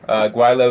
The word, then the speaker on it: Gweilo: Guailo is spelled for those who are not living in Hong Kong or speak Cantonese.